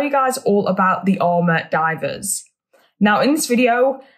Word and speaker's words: Ama: word is pronounced it's ama so i'm probably going to say armor and amer sort of interchangeably so who are the